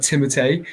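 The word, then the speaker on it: Timothée: okay timothy yeah apparently sleeping without apparently it's pronounced like timothee his name is timothy just kill me like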